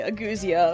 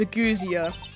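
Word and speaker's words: ageusia: So, uh, goo rhymes with u, then z is the letter z and then sub ends with the stop uh sound. So, it is a guzzia.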